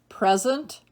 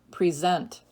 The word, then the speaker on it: present: 5, present or present.